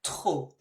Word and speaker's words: trop: Be careful your pronunciation here. The P is not pronounced, so it sounds like trop.